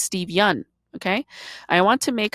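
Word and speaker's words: Yeun: Everybody mispronounces Steve Yun's last name too. They call him Steve Yoon. It's not. It's Steve Yun.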